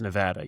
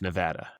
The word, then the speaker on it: Nevada: up in the Northeast, one of the first things I had to hard trade myself on was it's Nevada, you dummy. Yeah. say it right. It's Nevada.